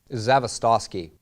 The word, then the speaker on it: Zavistoski: them your last name zavistoski are you Russian it's polish it's phonetical if you sound it out you could pronounce it but that's why I